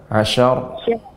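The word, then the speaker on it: عشر: Ya, jadi pengucapan sya tidak syia, bukan syia, tapi sya. Dengan cara rahwa turunkan sya, diucapkan sya.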